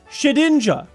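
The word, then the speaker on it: Shedinja: It is just Shedninja. There's no N. There's no ninja. It's ninja-ish, but it's not ninja.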